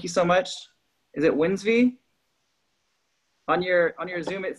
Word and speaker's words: Wlnsv: And it's pronounced Wlnsvey, like Sunday.